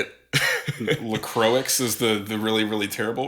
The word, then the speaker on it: La Croix: LaCroix is the really, really terrible way to say it.